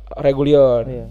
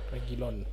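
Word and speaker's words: Reguilón: ya eh sori Ben Davis kanannya Pedepora sama Regulion gitu regilon Regilon Regilon back tengahnya juga mantap back tengahnya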